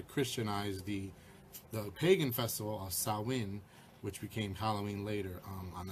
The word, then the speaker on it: Samhain: Looks like it's spelled Sam Hain, but it's pronounced like Samhain or Samhain.